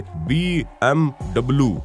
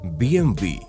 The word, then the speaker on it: BMW: यही नहीं, BMW 3 शब्दों वाला एक ब्रांड है, ऐसे में लोग इसे BMW बोलते हैं, लेकिन ये गलत है क्योंकि इस गाड़ी का सही उच्चारण है BMW।